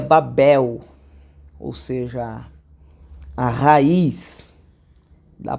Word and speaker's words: Babel: aparece no Novo Testamento Então seja pronuncia em hebraico seria Babel né então quando aparece a palavra Babilônia no antigo testamento no hebraico a pronúncia seria Babel Ou seja a raiz